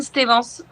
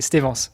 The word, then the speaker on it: Stevance: Pauline Stevens. Stevens, ok, c'est ça. Ouais, donc pas à l'anglaise quoi, c'est pas Stevens, c'est Stevens, ok.